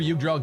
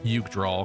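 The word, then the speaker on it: Jugdral: Also, I read my initial pronunciation of J U G D R A L was u draw because I figured it probably wasn't just a normal J.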